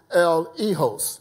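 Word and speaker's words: eleos: mercy uh uh according to Strong's is uh pronounced El egos that's e-l-e-h-o-s El Hijos right and that means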